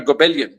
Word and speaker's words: Goebbelian: जो Goebbelian propaganda है ना, not Jobelian propaganda, Goebbelian, just to pronounce it correctly, वो जो है, वो हम नहीं कर रहे.